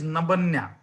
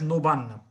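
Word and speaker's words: নবান্ন: So according to spelling, it is Nabanya. But actually in Bengali, it is pronounced as Nobanna.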